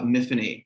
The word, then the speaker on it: Miffany: of The Rook uh miffany to rhyme with Tiffany it's a Welsh name and it's that's how